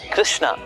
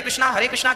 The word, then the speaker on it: कृष्ण: शुद्ध उच्चारण इसका क्या है? हरे राम राम राम हरे हरे, हरे कृष्ण कृष्ण कृष्ण हरे हरे।